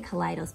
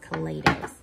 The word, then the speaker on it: Kaleidos: or is it kaleidos i always say colliders but i think it's actually pronounced kaleidos so i'm sorry for